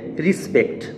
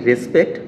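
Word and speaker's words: respect: পঞ্চম শব্দটি হচ্ছে রিসপেক্ট, আমরা বলি রেসপেক্ট বাট শুদ্ধ উচ্চারণটি হচ্ছে রিসপেক্ট।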